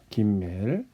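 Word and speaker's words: ג: 김멜은 어떻게 쓰냐면 이 네모난 상자에 반 칸만 쓰게 되는 거죠. 그래서 이런 식으로 쓰게 됩니다. 다시 한번 볼게요. 끊어서 쓰지 않고 연결해서 써도 됩니다. 김멜, 다시요.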